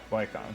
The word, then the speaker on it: Viscount: Thankfully, Viscount, that's how you say it. Viscount.